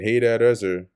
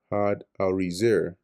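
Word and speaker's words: Hadarezer: had arizer had with a hard d sound followed by arzer pader.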